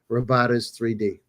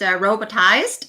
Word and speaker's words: Robotiz3d: So you know um how did your cross industry background prepare you for founding Robotas 3D? Yeah. So um first of all it's it's pronounced robotized and uh there's there's a funny story.